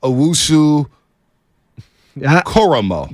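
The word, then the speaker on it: Owusu-Koramoah: I can't pronounce his last name. Jeremiah Owusu Koromo.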